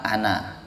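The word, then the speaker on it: أنا: Nah, jadi kalau nyambung bacanya pendek ya. Tetapi kalau berhenti pas di kata yang ada tanda nolnya itu dibaca panjang, kembali ke hukum asalnya.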